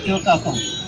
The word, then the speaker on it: কেউ কাতম: তো যাওয়ার পরে উনি বললেন যে হ্যাঁ এই তো স্তরেই তো দেখা যাচ্ছে যে কেউ কাটাম। ওরা বলে কেউ কাতম, ওদের উচ্চারণ কেউ কাতম।